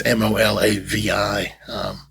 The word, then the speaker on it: Molavi: And then Molavi, not that anybody can pronounce or spell that name, but it's Molavi.